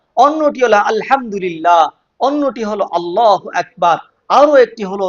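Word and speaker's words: الله أكبر: এজন্য খেয়াল করে সুন্দরভাবে উচ্চারণ করবেন, আল্লাহু আকবার।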